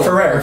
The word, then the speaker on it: Ferrer: I can't pronounce his name. Federer? No. Ferrer.